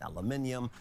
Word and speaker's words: aluminum: terrs on steel and aluminium but then we've seen counter terrorists from other allies I got roasted for my pronunciation of of uh aluminum aluminium um yeah we pronounce it like aluminum here how how how we